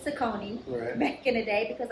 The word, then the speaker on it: Saucony: So, yes, for anybody that doesn't know, Saucony is actually pronounced Saucony. It's not personal, guys. If you culturally wants to continue to say Saucony, I'm not going to be the black person to stop you.